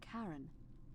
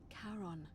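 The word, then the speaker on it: Charon: It's just as you described it, only your pronunciation is a little off. The name you heard wasn't Karen. It was C H A R O N. As in Karon, the fairyman of the dead.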